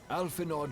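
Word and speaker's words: Alphinaud: Amusing considering Sid just called him Alfinod. Which is a combination of what the rest of us used to call him by and his actual pronunciation being Alfino.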